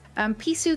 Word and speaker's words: Pisu: Pisu is my cat's nickname and a Romanian word for kitty. If you pronounce it in an Italian accent, it's basically correct.